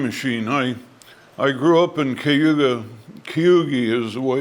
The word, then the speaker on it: Cayuga: that ended in A is pronounced IE to the railroaders. So Neoga is Neogi. Cayuga is Cayuga. I have no idea why. Steve has no idea why, but that's the way it was.